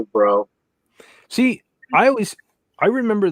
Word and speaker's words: DuBrow: they they kicked Kevin Dau out, which Now, how do you say it? Do you say Kevin Dau or Kevin Dro? I always said Dro.